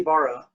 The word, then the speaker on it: Ibarra: can share their stories you got my name wrong on suicide it's Barra aka Ibarra thank you so much